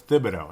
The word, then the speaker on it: Thibodeau: I can't believe I'm calling him Tibido it's Tibido and that was the official pronunciation I heard that on Dan barrero yesterday